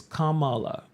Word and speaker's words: Kamala: was Kamala it's Kam it's not cra it's Kamala not now in my head Kamala thought was